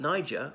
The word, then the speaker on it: niger: the River Niger but Niger or is sorry in Latin what I shall say it but it rhymes with the trigger is is the word